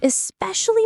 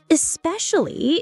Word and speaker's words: especially: Especially is a great word to add details, but be careful with pronunciation. It's especially, not especially. Especially. Especially. That's tough. Try breaking it down. Is-pesh-ali.